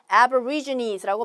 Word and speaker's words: aborigines: 그래서 aborigines라고 발음을 하시면 되고 aborigine 아니면 쿠리스라고 불리는 그러한 전통 호주 원주민에 대한 또 설명이 나오는 패러그래프였어요.